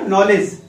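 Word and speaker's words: knowledge: यानी एन के पहले के आ गया तो हम के का प्रोनंसिएशन नहीं करेंगे, सीधे हम एन ओ से कर देंगे, तो इसका मतलब हो गया नॉलेज, के इज साइलेंट, नॉलेज मीन्स ज्ञान।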